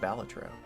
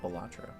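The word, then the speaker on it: Balatro: It's it's uh it's supposed to be pronounced Batro, not Bolatro.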